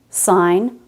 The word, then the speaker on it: sign: Also GN at the end of a word. Design, sign, rain, foreign, assign, campaign.